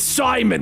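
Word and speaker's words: Psimon: Call me Simon, he intones. Okay, Simon, just calm down. No, it's Simon with a silent P.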